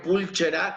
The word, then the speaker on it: pulcher: Luego tenemos que la che se va a pronunciar como C. En este caso, la palabra pulcher o pulcra, que significa limpio, pulcher o pulchera, que significa limpio, se va a leer como pulcher. ¿Ok? Esa es la pronunciación.